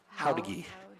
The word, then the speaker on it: Jauregui: Howdigi. She pronounces it Howdigi. Miss. Howdigi. There you go. It's right underneath. Phonetically, right underneath.